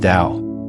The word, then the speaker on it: Tao: This concept is known as the tao pronounced dao which is translated as the way or the path.